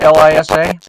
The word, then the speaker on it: Liza: So she spells it L-I-Z-A, but it's pronounced Lisa.